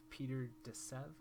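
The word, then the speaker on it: Peter de Sève: love his stuff kind of reminds me of peter de sev that's correct pronunciation of his name but kind of has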